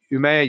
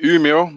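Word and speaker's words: Umeå: a systems specialist at umea university hopefully i said that right you'll have to correct me if not and welcome thank you uh it's uh pronounced umio but it's not easy for an englishman so but you did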